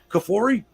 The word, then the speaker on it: Kafoury: Kafoury? Yeah, you didn't butcher it at all. That's exactly how you pronounce it.